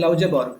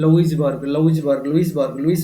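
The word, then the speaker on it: Louisbourg: हबो ना जे गोटे जगह थिला जोटा होची लाउजेबर्ग हैला जोटा कि बर्तमान कनाडा रो गोटे एरिया हेते बेला एटा फ्रेंच पाकर थिला LOUS LOU लाउजेबर्ग LOUIS बोलते लाउजबर्ग BERG देखि दो स्पेलिंग डेटा बोलते लुइसबर्ग LOUIS ना ये होते लुइसबर्ग है ना लुइसबर्ग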